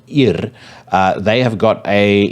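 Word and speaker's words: Yr: discovered a band on black metal promotion called IR uh they have got a EP out called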